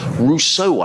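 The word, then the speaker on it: Roseau: of the first test Russo aboriginely pronounced that r-o-s-e-a-u is the capital of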